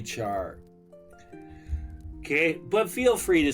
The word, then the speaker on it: char: I mean when you spell cherry, you don't go carry, right?